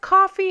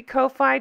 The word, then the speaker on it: Ko-fi: I believe it's pronounced coffee. It might be Ko-Fi. Don't care.